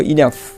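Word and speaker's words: enough: তাহলে TOUGH, টাফ, দেখো শেষে ফ উচ্চারণ হয়েছে, টাফ অর্থ কঠিন। তারপর দেখো ইনাফ, এই যে GH আছে, ইনাফ অর্থ যথেষ্ট, দেখো এই যে ফ হয়েছে।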